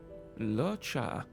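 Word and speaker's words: Luocha: Locha.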